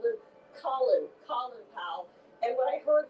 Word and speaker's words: Colin: Before he was Colin, the British pronunciation that was used by the Jamaicans, and then a war hero emerged named Colin Kelly. So to his friends on the neighborhood in the block, he became Colin Powell, but his family always called him Colin Powell.